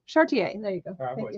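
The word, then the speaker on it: Charretier: City Beneath Her Feet, with the amazing Elsa Chantieri. Can I say her name? Chartier.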